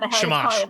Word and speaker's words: Shamash: Shamash? Is that the right? Am I pronouncing it right? Yeah, Shamash.